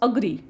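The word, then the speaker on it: agree: amount account about अग्री काही जण याला एग्री म्हणतात पण एग्री नाही इट्स अग्री अग्री around alert okay alert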